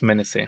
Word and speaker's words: Menezeh: How do you say it? It's Menezeh. Yeah, look her up on Instagram.